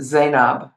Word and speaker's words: Zainab: And so in the Middle East, they pronounce it Zainab. But somehow in West Africa, it became Zainabu.